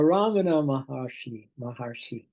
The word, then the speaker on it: Ramana Maharshi: Now, Ramana Maharshi.